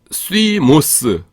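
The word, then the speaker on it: θυμός: 어 파이어 피로스 그래서 진노 분노 있는데 불 같은 분노 이래도 될 것 같은데 파이어 피로스 그래서 아 스머업스 스위모스거든요 제가 로스라고 했어요. 죄송해요. 죄송합니다. 어 시모스 그러니까 쉬 없이 분노하는 거예요.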